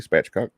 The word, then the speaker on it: spatchcock: I was pronouncing it correctly, spatchcock.